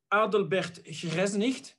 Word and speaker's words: Adelbert: difficult name to pronounce the right name is adelbert that is with a dutch accent even though it's a german name which is written in